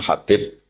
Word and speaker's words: Habib: Ada yang nulis Abi Abdurrahman Habib Asulami. Itu di harakatnya kitab itu ada yang nulis Hubab. L yang benar. Oh, nggih. Yang benar itu bacanya habib.